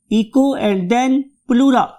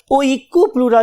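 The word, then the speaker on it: Oikopleura: इको, इको, right, इको एंड देन प्लूरा। बहुत से लोग इसको याद करने के लिए ओइकोप्लूरा भी कहते हैं, राइट।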